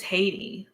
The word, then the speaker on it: Haiti: I guess it's Haiti. But because it rhymes with Katie, that's easy.